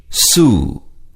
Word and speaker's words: sue: Sue. இச்சொல்லின் உச்சரிப்பினை கூர்ந்து கவனியுங்கள். Su, Su, Su, Su. UE என்ற எழுத்துக்கள் U என்ற உச்சரிப்பில் வரும். There will be no room for complaints.